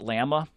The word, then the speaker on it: llama: ride my llama although I think he pronounces it Lama to rhyme with whatever he's you know whatever he's rhyming with so ride my Lama